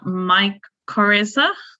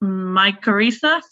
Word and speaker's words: mycorrhiza: And then I also found about some research they've been involved in, which is around mycorrhiza.